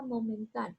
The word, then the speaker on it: momentáneo: La palabra momentáneo, momentáneo. Aquí yo elevo la voz en ta, separo estas dos